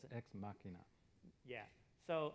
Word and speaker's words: Ex Machina: is ex machina machnia is that how you pronounce it ex machina yeah so how many people have seen that